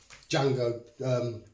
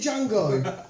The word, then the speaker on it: Django: You haven't seen Django? Jesus Christ. It's long as fuck, but it's so good. And Quentin Tarantino's voice in it is fucking weird as shit. The D is silent, hillbilly.